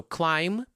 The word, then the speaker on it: climb: So climb, it's spelled with a B at the end, but we're not talking about the letter. We're talking about the final sound.